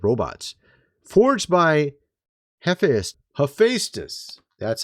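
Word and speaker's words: Hephaestus: They're kind of like robots forged by Hephus. That's how you actually pronounce the word.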